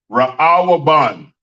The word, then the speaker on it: Reuben: I never knew how to say it. Ra'awaban. Ra'awaban. That's how you say it. Ra'awaban. And it's spelled Ra'awaban. Ra'awaban. That's how you say Reuben in the English Hebrew.